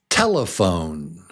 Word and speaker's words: telephone: You have to be careful with this one because in Spanish, it has a different accented syllable. Yeah, and when you say this word in Spanish, it's teléfono, right? Is that right? Teléfono. But in English, it's different.